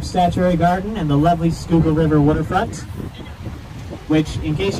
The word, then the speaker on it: Schuylkill: hell you're supposed to pronounce that river on the left end of your maps schuylkill not chihuahua kill or whatever it looks like it should say schuylkill alrighty folks we've got